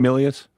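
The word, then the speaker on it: Milius: I mean you you have uh who it was directed by uh John I don't Millius or Malias, how do you say his name? Millius.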